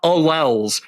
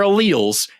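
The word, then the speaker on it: alleles: about and you're screaming about alls it's pronounced Al first just just we'll start there they're alals and they're within an organism and then they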